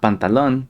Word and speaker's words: pantalon: But they are pronounced in the Nahuatl way. It's not pantalon, but pantalon.